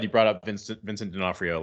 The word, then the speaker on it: D'Onofrio: I'm not going to say his name right denofranero D'Onofrio yeah for real yeah he's